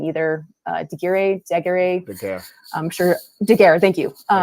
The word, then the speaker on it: Daguerre: Wait, how did you pronounce it? I forgot. It's a Daguerre.